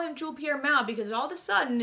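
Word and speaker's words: Jules-Pierre Mao: it was season three they started pronouncing it like jules pierre mao and i always thought the s was silent it was like a french thing i don't know so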